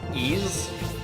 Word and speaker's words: Ys: It's kind of like ease. I think that's how you say it.